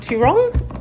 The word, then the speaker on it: Towrong: So we've got Adam, the winemaker, and George, the owner of Mount Towrong. Yep. Is that how you pronounce correct.